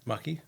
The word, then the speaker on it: Maki: Maki? Yeah, rhymes with lucky.